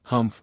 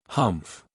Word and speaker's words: humph: read this story aloud please pronounce humph exactly as it is spelled for that is how he said it humph do you know until